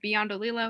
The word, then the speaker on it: Bondo: um my name is Bondo is how it's pronounced um I'm 14 I